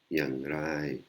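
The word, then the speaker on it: อย่างไร: อ ย ่ า ง ไ ร Yang Rai, hein. si on l'enlève, mais comme c'est un mot qui n'existe pas, le prononce mal.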